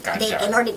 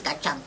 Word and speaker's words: Kajang: They probably can't even pronounce it, right? Kajang. They probably think it's Kachang.